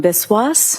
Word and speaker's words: Biswas: Yes, my name is Biswas. My first name is spelled.